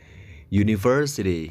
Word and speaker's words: university: University U meskipun tulisannya U tapi bacanya kan pakai Y.